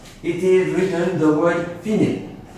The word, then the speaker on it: fine: is written the word finit f-i-n-e is not pronounced fine in english it's in italian is written here and